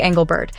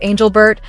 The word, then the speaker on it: Engelbert: The commentary then shifts toward league leadership, taking aim at WNBA Commissioner Cathy Engelbert, whose name is sometimes mispronounced as Angelbert or Angelberg.